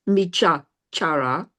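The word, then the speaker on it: micchācāra: Are you saying it is micha chara or Michachara. Okay. micha chara? So the way we Michachara Veramani Sikkhapadam Samadhiyami.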